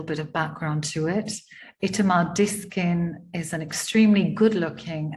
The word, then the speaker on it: Itamar: My name, Itamar, was given to me by my mother, and she was meticulous about stressing the final syllable with great aplomb.